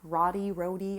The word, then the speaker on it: roti: They make, like, they call it roti, which is R-O-T-I, roti, I'm not sure.